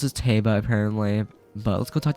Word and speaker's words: Teba: Teba, all that, but, how you pronounce his name is Teba, apparently, from Zelda's pronunciation, Hyrule Warrior's Age of Calamity. How you pronounce is Teba, apparently.